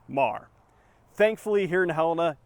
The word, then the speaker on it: Meagher: For example, Choteau County is spelled differently than the town of Choteau, and Meagher is pronounced Mar.